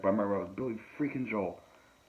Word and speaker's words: Joel: people who uh mispronouncing they call him billy joelle billy who does that auntie but i've heard other people say billy joel really yes ma'am that